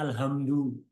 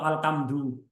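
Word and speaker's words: الحمد: Misalnya ada orang nggak bisa baca ha, nggak bisa baca alhamdu, bacanya alhamdu atau alkamdu. Dibaca di ha atau kaf. Nggak sah itu Fatihahnya.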